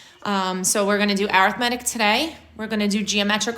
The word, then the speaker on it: arithmetic: say it so when you're talking about it as an adjective it is arithmetic sequence that was always something that everybody used to always say when we were back in class that I was saying it wrong but I'm not alright